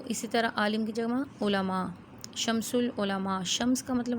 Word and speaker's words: علماء: العلماء کا خطاب ملا۔ آپ نے تلفظ پہ خاص طور پر غور کرنا ہے، کیونکہ اکثر لوگوں کا، بلکہ ہمارے ہاں اردو کا تلفظ بہت حد تک بگڑا ہوا ہے اور ہم اس کو علماء پڑھتے ہیں۔ جو لفظ عربی سے آئے ہیں، عربی میں ان کا جو تلفظ ہے اردو میں بھی وہی استعمال ہوگا۔ اس کو ہم علماء نہیں کہہ سکتے، عالم کی جمع علماء، ٹھیک ہے۔ اسی طرح